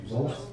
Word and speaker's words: Voss: Voss. Pronounce it like a long O.